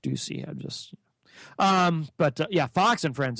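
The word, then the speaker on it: Doocy: And then there's stuff that's just unwatchable, like Fox and Friends, Steve Ducey, and I know it's pronounced Ducey.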